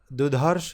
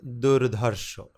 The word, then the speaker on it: দুর্ধর্ষ: এটা দুধর্ষ নয়, দুর্ধর্ষ। আমি একটু টেনে উচ্চারণ করলাম এবং আমাদের কাছে সবচেয়ে